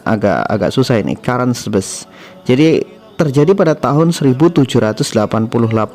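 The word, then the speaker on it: Caransebeș: Ya, kalau dibaca di Indonesia Karangsebes. Bacanya agak susah ini, Karansebes.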